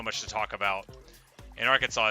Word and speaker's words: Arkansas: this chest here so it's spelled like that because it's from a French word but we say Arkansas but often people wouldn't